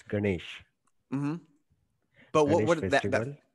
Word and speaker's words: Ganesh: ganesh on september 10th how is that one pronounced i don't i don't want to butcher it it's ganesh you you're right it's ganesh mm-hmm but what would